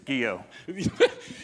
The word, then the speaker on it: Guyot: But It's Guyot.